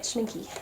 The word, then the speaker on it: Schmincke: Schmincke Horadam is how you say it, Schmincke, like that.